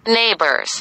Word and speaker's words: neighbors: في عندي neighbors اللي هم الجيران، نسمع كده مع بعض neighbors، الجي اتش تكتب ولا تنطق neighbors.